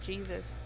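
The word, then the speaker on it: Jesús: his name sounds like Jesus you know because uh in Spanish language J pronounced like H H yeah so everybody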